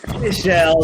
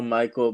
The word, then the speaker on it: Michelle: Yeah, it's Michelle. A lot of people say Michael, but it's Michelle, yeah. Like Platini, yeah?